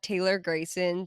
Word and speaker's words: Taylor Grayson: Uh, follow us at Taylor Grayson. T A Y L O R G R A Y S N. It's four syllables.